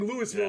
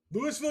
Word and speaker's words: Louisville: Yeah, I think Louisville is definitely Louisville. Lewisville, you're getting in a fist fight if you're in town.